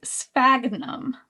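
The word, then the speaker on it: sphagnum: Spagnum moss.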